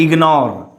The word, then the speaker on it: ignore: If GN is in the middle of a word, most of the time we pronounce the G. Okay, if middle of the word, we have to pronounce G. Suppose the ignore. Okay, so don't say ignore, it's a ignore.